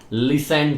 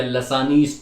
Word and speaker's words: Lassaigne: इसको हम बोलते हैं LASSAIGNES टेस्ट, लिसेन टेस्ट या लसानीज टेस्ट या लसैग्नीज टेस्ट। प्रोनाउंसिएशन में क्या रखा है ना, वो आप समझ लो क्या बोलना है। लिसेन टेस्ट, जी साइलेंट है।